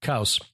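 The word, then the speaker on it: Qos: spelled by scholars Q-O with a circumflex mm-hmm. and an S. So Kaus, I think, is probably how it's pronounced. Kaus, which is based on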